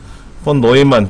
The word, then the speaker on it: 폰 노이만: 프로그램 내장 방식은 헝가리 출신의 폴란드 출신의 영어로는 본 뉴만이라고 읽겠지만 폴란드 발음으로는 독일어 쪽인가 봐요. 폰 뉴만이라고 하는 폰 노이만 교수가 이 논문을 발표를 합니다.